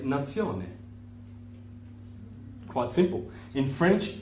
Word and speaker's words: nazione: be sione so nation would be you'd say nazione quite simple in french it's the same as